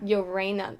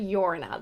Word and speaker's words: Llorona: They like say it like Llorena. They say like Llorona though. They don't really say Llorena.